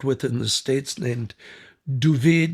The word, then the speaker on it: Duvid: And that's Ferris luck, because I was hired by an Israeli cameraman that I'd worked with in the States named Duvid, they pronounce David Duvid, Gerfinkel.